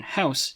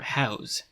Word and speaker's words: house: Compare the noun house to the verb house.